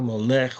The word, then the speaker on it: Molech: Molech was interesting. It's spelled like almost like Malach or Melech, but it's a lot. It's a Mem, Vav, Lamet, Kaf. Okay, so it's Molech, but excuse me.